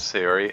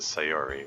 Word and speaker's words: Sayori: thing I've observed that in Japanese they uh put the emphasis on the first syllable always so yes sirey it's